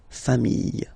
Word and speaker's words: familles: the plural form, les familles. Okay, remember, chien, singular form, chien, same pronunciation, but you put this S. Okay, final S not pronounced. Famille, singular form, famille, plural form, same pronunciation, S not pronounced.